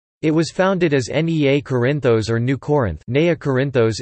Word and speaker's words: Κόρινθος: Corinth, Greek, Corinthos, Corinthos, pronounced Corinthos, listen, is an ancient city and former municipality in Corinthia, Peloponnese, which is located in south-central Greece.